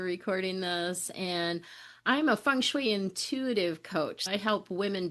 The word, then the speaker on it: feng shui: Kim, what drew you to doing feng shui? Am I saying it right? It's actually feng shui.